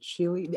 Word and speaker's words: Chili: Chili, I remember pronouncing your name correctly, by the way, Chili. Yes, would you like to go next, please? Yeah, it's chili, just like the food.